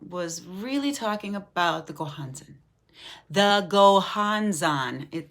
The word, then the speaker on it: Gohonzon: really talking about the gohansen the gohans on all of the vowels in that word are oh go hon zone would be a slight